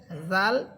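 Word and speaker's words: ذال: মাখরাজ জাল হরফের মাখরাজ হচ্ছে জিহ্বার আগা বা অগ্রভাগ সামনের উপরের দুই দাতের আগার সাথে লাগবে।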